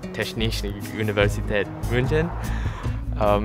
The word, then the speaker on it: Technische Universität München: It had a German name, which is pronounced something like Technische Universität München.